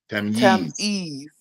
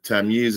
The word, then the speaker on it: Tamyiz: Tamyiz. Tamyiz. Not Tamyiz. Tamyiz. Yeez, like Yeezy. Yeah. Yeah. Okay. Tamyiz. Got it. Yeah. And so the one who is the Tamyiz is the age of knowing right from wrong, right?